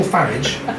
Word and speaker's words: Farage: And in particular, when we had Nigel Farage, because it rhymes with garage, he was up last